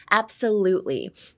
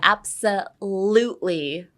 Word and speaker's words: absolutely: Absolutely. Absolutely. Everything else you don't have to care about. It can sound like anything as long as you put the emphasis on the lutely absolutely abs like it's